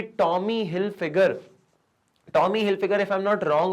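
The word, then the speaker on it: Tommy Hilfiger: trust जीता हुआ है कि टॉमी hill figure टॉमी hill figure if आई एम नॉट रंग उसको ऐसे ही प्रोनाउंस करते हैं टॉमी हिलफिगर की जो वॉचेस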